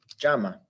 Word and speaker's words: llama: Llama. There's our conjugation. Now, here is the second to last syllable. This is the vowel that's stressed. Llama. It's the second to last syllable. That follows the rules.